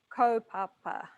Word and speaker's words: kaupapa: Just a A in front of a P, so pa. Kōrero mai. So kaupapa.